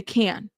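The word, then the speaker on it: Cannes: So it's can the can. The s is silent. The can. But the s is silent, right?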